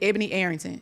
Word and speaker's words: Ebony Arrington: post not too long ago with is it Ebony Arrington?